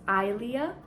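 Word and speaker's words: Aelia: this stuff um and the name is Ilea it's spelled a-e-l-i-a because a e makes the I sound in Latin uses a Roman name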